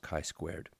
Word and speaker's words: chi-squared: It uses the Greek letter chi, and it's pronounced chi-squared.